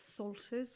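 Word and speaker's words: psalters: You've got salters, which is actually spelled with a P. So P Ster, silent P.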